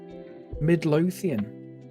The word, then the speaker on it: Midlothian: Heart of Mytholodian. Midlothian. Is that actually Midlothian? And I've been pronouncing it wrong my whole life. Fuck, I need to Google this now. Is it actually... Fuck, I've been saying... Oh, shit. I've been saying Mytholodian.